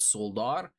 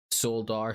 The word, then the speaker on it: Soledar: so forgive me, but I pronounce it as it's spelt, Soledar, is reported to have fallen to the Russian forces, mostly composed of Wagner.